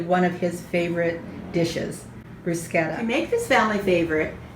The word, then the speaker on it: bruschetta: make this bruschetta and i did say bruschetta with a long k i have had many of my italian speaking friends correct me and so i have finally learned how to pronounce it properly not the way most americans say bruschetta but in the italian way bruschetta with the hard k as i start to